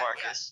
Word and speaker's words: Marcus: I don't know how to pronounce that. That's Marcus. Yeah, it's Marcus.